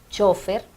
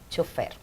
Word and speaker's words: chofer: En algunos de los países esta palabra se pronuncia como llana, chofer, con tilde en la O, pero para nosotros es aguda, chofer.